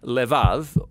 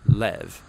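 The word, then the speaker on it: לב: in this prayer heart which in hebrew is sometimes pronounced lev or more often in a shorter form lev now different cultures throughout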